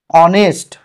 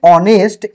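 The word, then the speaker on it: honest: যেমন এন অনেস্ট ম্যান এই যে অনেস্ট এইচ কিন্তু উচ্চারণ হচ্ছে অ যার জন্য এান বসছে।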